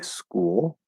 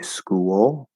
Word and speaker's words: school: And so there's actually, for school, for example, you can say school with an L-colored oo. You can say school with a small w between them. So there's two ways to pronounce that.